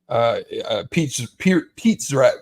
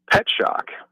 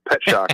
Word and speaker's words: Pierzak: Pet shock. Like you're surprised to see a pet. Pet shock, I think, is actually how you pronounce it.